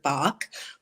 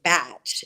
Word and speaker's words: Bach: British physician in 1930, Dr. Edward Bach, or if you live in the UK, they pronounce his name Batch, and it is an English system, but it can go either way.